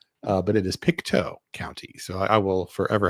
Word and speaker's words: Pictou: I think I was pronouncing it Piktau. Uh, but it is Picto County.